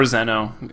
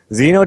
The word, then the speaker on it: Xeno: Or Xeno. It rhymes with Veno, which they banned out first there.